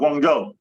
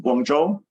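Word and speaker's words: Guangzhou: Um I think it's called Guangjo. And it's I don't know. You have to like you have to do the u the pronunciation, but I think it's Guangdo. Guangjo with a Jish sound.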